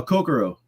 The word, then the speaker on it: Kokoro: How do you, how do you pronounce that again? Uh, Cocoaro.